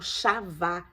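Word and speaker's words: חוה: de EVA no hebraico essa palavra ela ela é uma palavra que que é pronunciada como chava que significa o quê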